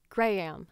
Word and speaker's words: Graham: can say it in your accent like if you were talking to a person named Graham you would probably say like grahe right I say Graham Graham funny it's so Southern you've added a syllable to it it's a very Southern way of saying it American southern way of saying it gray am I'd you you've taken a syllable away well okay but sort